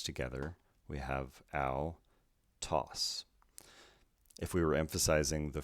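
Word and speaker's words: αὐτός: so this means that the second syllable will be emphasized when we pronounce the word lastly we have sigma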